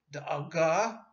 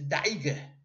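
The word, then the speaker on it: דאגה: In Yiddish, you use the strictly Ashkenazic pronunciation, which can get to be pretty wild. For example, da'aga in modern Hebrew, meaning worry, is daige in Yiddish.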